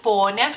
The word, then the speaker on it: Ponia: O sea, la I cambia, digamos que la pronunciación de la última letra. Por eso pronunciamos las dos letras, las dos palabras, perdonen, igual, Ponia.